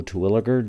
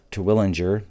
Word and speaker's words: Twiliger: sun uh it's not to willinger everybody wants to call it to willinger there's no n it's true toriliger and it sounds like twig the guy's uh the